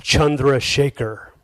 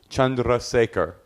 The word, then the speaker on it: Chandrasekhar: you play in uh in India the name is pronounced chundra Shaker is that true yeah Chandra Shaker Chandra Shaker how do